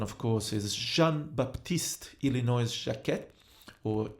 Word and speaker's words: Jacquet: So the saxophone, of course, is Jean-Baptiste Illinois Jacquet, or Jacquet, if you pronounce with the American pronunciation.